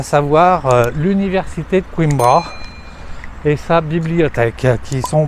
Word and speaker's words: Coimbra: Bon, aujourd'hui, donc, nous sommes à Coimbra ou Coimbra, on ne sait pas trop bien, je crois Coimbra, c'est la prononciation ouais, c'est ça.